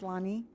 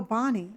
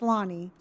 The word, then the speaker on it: Lonnie: Oh, Bonnie. No, no, it's it's Lonnie. Oh, Connie. No, I did not say either one of those. It's Lonnie. Lori, no. I'm I'm pretty sure I'm pronouncing my name correctly. It's Lonnie.